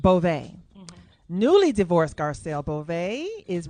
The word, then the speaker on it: Garcelle Beauvais: Garcelle, is it Beauvais? Or Bouveau? Yep. Beauvais? How you say it? Beauvais.